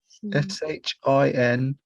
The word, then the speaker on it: Shinhan: Oh gosh, how do you spell that? SH, is it? SHINHAN.